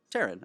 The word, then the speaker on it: Taryn: me because i think i said it wrong taryn okay okay i didn't okay well tearing the